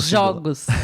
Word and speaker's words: jogos: Jogo no jogos. Jogos. Porco. Porcos. Perceberam a diferença, pessoal, de pronúncia?